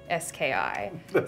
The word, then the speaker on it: Strzechowski: It's like, it's Strzechowski. So it's got, and the RZ is like a Z sound. Right. CH is actually just H, W is V.